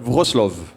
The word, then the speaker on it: Wrocław: Pour prononcer, c'est Wrocław.